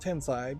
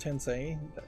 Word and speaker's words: Tensei: decided to do a speedrun of Shin Megami Tensei, which I thought was pronounced Tensei, but apparently it's pronounced Tensei because that's what how they were saying it in the game.